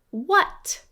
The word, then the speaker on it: what: Try this word, what? Yes, this one's a trap. It sounds like a short U sound, but we notice the letter A.